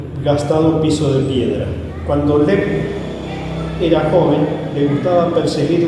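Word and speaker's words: เล็บ: Sí, Se llama Lep. Lep. En Thai significa garra. Lep. Sí. Lep, con No por la L-E-P.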